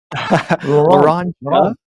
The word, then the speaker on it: Laranja: Laranja. I kind of like Laranja. go with the J. Yeah. Okay. So we pronounce the J here.